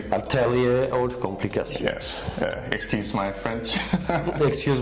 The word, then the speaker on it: Ataelier Haute Complication: Am I pronouncing it correctly? Ataelier Haute Complication.